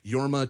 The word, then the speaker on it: Jorma: a panel and he referred to him as yorma tonei okay um so that's that's how I'm